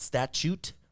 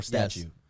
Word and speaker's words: statute: Is it statute or statue? That's a statue. Statute, but it's but it's it people say statue. The statue of the statue of limitations spelled with a T.